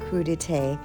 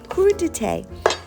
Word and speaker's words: crudité: Let's talk about crudité. Yes, it is a French term pronounced crudité.